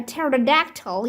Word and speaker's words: pterodactyl: Why can't you hear a pterodactyl using the bathroom? Because the P is silent.